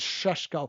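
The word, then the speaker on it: Šeško: I literally pronounce it deliberately like because he put a video out saying it's pronounced Sheshko. And I think Mark Goldbridge says Sheshko.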